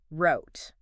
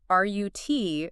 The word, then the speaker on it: route: And then there's R-U-T rhymes with foot or boot. Rut. Ooh. More common in the UK and some other English-speaking countries. Both are perfectly correct.